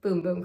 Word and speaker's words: Bum Bum: bum cream and yes I know it is pronounced boom boom cream but at the time I didn't know that and I don't know bum bum cream just sounds so much better considering how